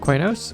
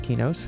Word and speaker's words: Qeynos: well welcome to the city of kwai nose or some people call it ki nose however you want to pronounce it I know it